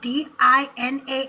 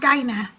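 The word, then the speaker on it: Dinah: Hana and I believe even Cyber that although it's spelled D I N A H, it's not Dina, it's Dina.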